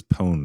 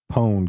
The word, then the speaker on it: pwned: out and tell you it's pronounced like it's spelled p o n e well in the in